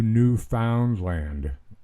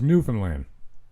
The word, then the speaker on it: Newfoundland: She is, if not today, very soon winging her way off to Newfoundland. I said it like that for her benefit. Proper pronunciation, of course, is Newfoundland.